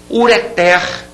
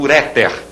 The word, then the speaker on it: ureter: bem palavras oxítonas importantes ureter ureter essa tá aqui sublinhada você tá vendo é uma palavra oxítona não se diga portanto uréter ruim ruim a última